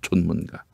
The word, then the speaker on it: 존문가: 존문가. 전문가라고 아니고요. 존문가라고 읽습니다.